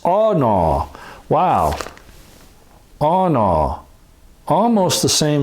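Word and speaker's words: ענה: And it's 6031 in Strong's, and it's aw-naw.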